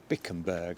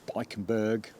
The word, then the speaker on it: Bikkembergs: are made by Dirk bickenburg I think is how you pronounce it bickenburg or or bikenberg you know I'll put it